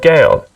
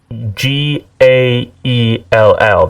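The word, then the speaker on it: Gaël: If it's spelt Gaell, that's pronounced Gale. No, there's a little dot on the E. Oh. It's called Gael. Gael.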